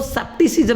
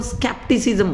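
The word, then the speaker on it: skepticism: स्केप्टिसिज्म, इसको सेप्टिसिज्म ने वो स्केप्टिसिज्म बोलते हैं।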